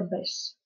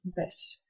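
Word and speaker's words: beige: морадо и бежевый это Беш бежевый Беш это слово иностранного происхождения поэтому оно произносится совершенно не по испанским правилам Если Вы говорите об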